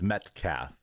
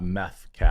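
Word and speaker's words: Metcalfe: His name is Metcafe, not Methaf.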